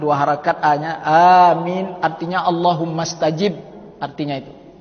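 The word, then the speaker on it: آمين: Kemudian yang kelima, wa qaulu amin, mengucapkan amin. Itu sunat hayat juga, mengucapkan amin. A-nya 2 harakat dibaca, min-nya itu 2 boleh, 4 boleh, 6 boleh, ya. Itu cara baca amin. Jangan dipendekkan A-nya itu.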